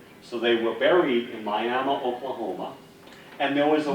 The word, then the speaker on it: Miami: So now we go to Miami, Oklahoma, spelled just like Miami, Florida, but pronounced Miami.